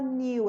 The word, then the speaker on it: knew: Aqui também a pronúncia, esse E não vai pronunciar. Então a gente vai falar knew, é knew.